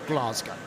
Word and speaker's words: Glasgow: Well, first of all, I've got to commend Eric on his pronunciation of Glasgow because most North Americans call it Glasgow, but he's got it down.